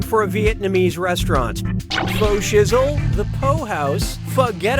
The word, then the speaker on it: pho: This delicious soup is pronounced pho.